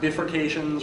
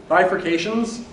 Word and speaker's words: bifurcations: videos about section 1.7 the word up there is pronounced bifurcations not differentiations or defercations but bifurcations in chapter one its